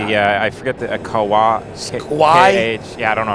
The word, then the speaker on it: Kauai: Kauai? Yeah, I don't know how to pronounce it. But yeah. Now the one in South Carolina. That is Kauai. It's Kawaii.